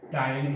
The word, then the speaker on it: ptyalin: उस लार में उपस्थित टायलिन एंजाइम, लेकिन इसको लिखते हैं अंग्रेजी में पटाइलिन, देखो PTYALIN, पी साइलेंट है, टायलिन इसलिए हिंदी हमने लिख दिया, इंग्लिश भी लिख दिया।